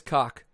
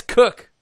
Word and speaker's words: Koch: Tell him that Mark Weeks told me it was Cock. Ask Zach how he feels about Wow, he said it's Cook. Why would you pronounce Koch as Cook?